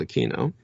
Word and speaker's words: Aquino: his own uh standards he preferred he infinitely preferred aquino and at the time